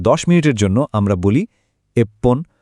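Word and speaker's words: いっぷん: কিছু সংখ্যার শেষে উচ্চারণটা ফান না হয়ে পন হয়। যেমন এই স্লাইডে দেখুন, 1, 6, 8 আর 10 মিনিটের জন্য আমরা বলি এপ্পন, রপ্পন, হাপ্পন আর জুপ্পন।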